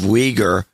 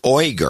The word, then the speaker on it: Uyghur: want you to play this is her pronunciation of wieger five times the five times she said it the the woman herself and it sounds to me like she's saying oy girl that's what i heard in the clip i